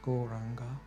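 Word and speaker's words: Gauranga: are going to change one of these mantras goranga we first joined the guys in the background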